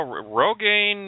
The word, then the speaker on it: Rogaine: people think well you know Rogan rhymes with cocaine and you know everybody